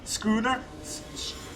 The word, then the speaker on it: schooner: Schooner? There's an H in there. But so does school, right? So it's like schooner, but with an N at the end and without an L. So schooner.